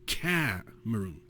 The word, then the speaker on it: Cameroon: And if you'd said it in English, then it would be Cameroon, where the accent is on the Cameroon.